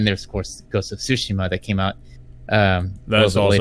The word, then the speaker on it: Tsushima: Oh yeah, and then there's of course Ghost of Tsushima that came out. That's also been taking up a lot of my time. Yeah, Ghost of Sushi. I mean, it's pronounced Tsushima, but yeah.